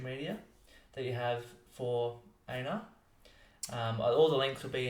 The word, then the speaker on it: Einar: It's Einar. It's not Einar or Einar. It's Einar The, although that means nothing when it comes to spelling.